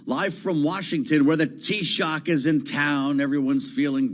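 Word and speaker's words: Taoiseach: Biden meets today with the t-shock you got that everyone got the pronouncer that's the Irish Prime Minister makes the annual visit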